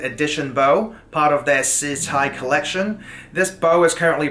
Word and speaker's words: SiCai: Now, the name SiCai, by the way, it's actually pronounced SiCai.